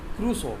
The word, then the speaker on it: Crusoe: Crusoe, pronounced as Crusoe.